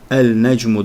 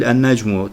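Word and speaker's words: النجم: zaten bunları öğreneceğiz nun Peki neden yani el necmu demiyoruz da en Necmi diyoruz Çünkü lamda bu 14 harfi dahildir Yani mahreçleri çıkış yerleri aynı bölgeden olan ağzına aynı bölgesinden olan iki harfinin telaffuzu söylenmesi zor olduğu için böyle bir kaide var yani el necmu değil En necmu tekrar edersek zaten bunun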